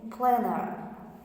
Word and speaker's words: planter: The third is planter, but the pronunciation is planner.